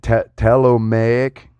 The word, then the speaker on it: Ptolemaic: It dates back to there's that word again, Ptolemaic era. I bet the P is silent on that.